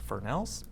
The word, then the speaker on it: Fresnel: So they're spelt Fresnels, but they're pronounced Fresnels.